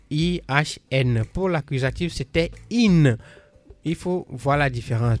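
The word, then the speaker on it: ihn: Das Buch gefällt ihm, c'est pour le R, donc ihm qui s'écrit I-H-N. Pour l'accusatif, c'était in.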